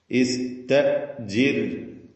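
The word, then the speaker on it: اسْتَأْجِرْهُ: സ്തജിർ എന്ന് പറയുന്നത് സ്ത അല്ല, ഇസ്തജിർ.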